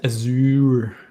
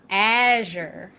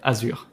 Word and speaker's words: Azure: But yeah, it's pronounced as Azure. Willie Geertz, we just learned that it's pronounced Azure. Okay. Do we have? It is in French. I was about to say pronounced. It is pronounced Azure in French.